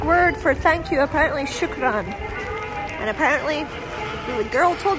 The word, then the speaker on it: shukran: The Arabic word for thank you, apparently shukran.